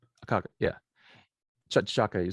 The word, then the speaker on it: T'Chaka: name, Akaka, yeah, T'Chaka.